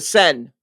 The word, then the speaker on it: Seine: the Seine, is that how you say it? Seine River? Seine? Oh, the Sen. The Seine.